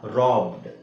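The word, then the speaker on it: robbed: ಡಬ್ಬೆಡ್ ಅಲ್ಲ ಡಬ್ಡ್ ಹಾಗೆ ಇದು ರಾಬೆಡ್ ಅಲ್ಲ ರಾಬ್ಡ್ ಇದು ರಬ್ಬೆಡ್ ಅಲ್ಲ ರಾಬ್ಡ್ ರಾಬ್ಡ್ ಓಕೆ ಹಾಗೆ ಇದು ನೋಡಿ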